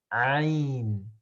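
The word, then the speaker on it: عين: If you write the Ain in English, it will start with A, but it really comes from the middle of the throat.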